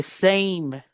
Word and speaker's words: same: En este caso, la a va a sonar e, por eso aquí dice same, cane, made, hate. Porque si la palabra no termina, por ejemplo, en una emuda, ¿qué dice arriba entonces? Sam, Sam, ¿cierto? Sam, same.